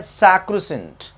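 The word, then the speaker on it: sacrosanct: इसमें जो लेटर सी होता है, ये सी सी का साउंड, यहां सी है ना, ना ही का, यहाँ लेटर सी कोई भी साउंड प्रोड्यूस नहीं करता। ठीक है, तो इसका सही प्रोनाउंसिएशन है सैक्रोसेंट, लेकिन मैंने इसे याद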